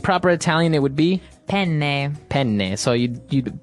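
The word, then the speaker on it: penne: pronounce uh we said pen in uh in English in American English but in proper Italian it would be pen pen so you you you double pronounce the consonant yes what about fetui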